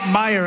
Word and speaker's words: Meijer: How the hell do you get Meyer out of it?